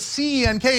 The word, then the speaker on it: Cenk: If you have a name that's C-E-N-K and the C is pronounced like a J, it's your job to tell people, hey, that's Cenk.